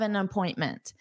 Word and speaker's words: appointment: I have an appointment. Notice that pronunciation, an appointment. So an, the article, needs to combine with appointment. An appointment. So notice it sounds like the name Anna.